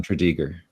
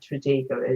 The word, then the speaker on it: Tredegar: So it gives you roughly some idea of where Tredegar is. So you don't really pronounce the R the way we would. You sort of leave the R off, right?